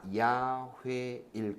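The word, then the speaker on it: 야훼: 그렇게 해가지고 나중에 17세기 19세기 이제 성경 학자들이 본래 발음이 그럼 뭐였을까라는 거를 연구하기 시작을 했는데 연구를 해 보니까 아마 야회일 거다. 본래 이름은 그리고 야외 또는 야회 우리나라 말로 또 번역하면서 이게 약간 오류가 생기는데 어쨌든 뭐 대략 그런 역사가 있습니다.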